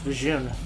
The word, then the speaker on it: Vjun: the Warcraft 3 credits how do you pronounce the June and Jedi Academy I believe it's bajoon but uh I think I have heard that it's reunion in other sources oh this